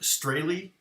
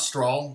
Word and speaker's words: Strahle: i think um and my last name is pronounced straily so if you didn't know it's not straw straw is correct but